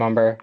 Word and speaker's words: Umber: I'm Umber by the way. Um, I'm the pack chair for the quarter. So, nice to see you all. Um, it's umber pronounced like lumber if we haven't met.